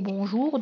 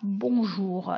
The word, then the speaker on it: bonjour: Pareil pour bonjour, donc on ne dit pas bonjour, donc on dit bonjour, bonsoir, d'où le rythme de c'est-à-dire dans ces mots.